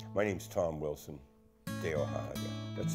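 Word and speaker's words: Tehohahake: My name's Tom Wilson, Teohahake. That's spelled T-E-H-O-H-A-H-A-K-E.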